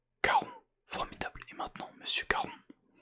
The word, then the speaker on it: Charon: Charon. Prononcez Caron. Répétez avec moi. Caron. Caron.